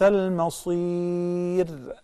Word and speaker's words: المصير: So we say وبئس المصير. Very thin ra. Similarly, there are two fir'aun. Okay? The ra is preceded by kasra, so we say fir'aun. Fir'aun with a very thin ra.